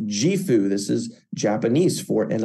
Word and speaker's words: JIFU: new year you can see here it is pronounced jeu this is Japanese for an abundant life what